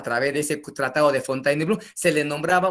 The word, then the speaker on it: Fontainebleau: así como se dice rusia o y se pronuncia ruso así también el tratado de fontainebleau muy bien qué cosa vino a ser ese